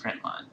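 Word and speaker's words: println: out dot print ln which is pronounced print line and then parenthesis and now whatever you want to show you have to do quotations around it.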